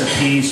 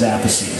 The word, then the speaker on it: Appice: They can't get together to pronounce their family name the same way. One says Appice and one says Appice.